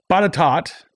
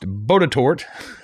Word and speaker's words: Botetourt: critique back is that pata tot is not pronounced Botetourt as I pronounced it but but etat he says like an American slang of the French pronunciation which is where the name came from I had trouble with